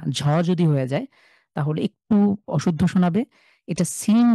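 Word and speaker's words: شين: যায় তাহলে একটু অশুদ্ধ শোনাবে এটা সিন যে ঠিক যে জায়গা থেকে সিন আগে উচ্চারণ করবেন এরপরে যা স্বাভাবিক এরপরে শিন এটা সহজ বাংলা যে তালব স ঠিক সেই স অথবা ইংলিশে এস এইচ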